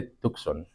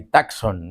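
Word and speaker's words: Tucson: se pronuncia el tux se dice tucon Entonces si alguien les dice como he escuchado por ahí taxon no olvídense O sea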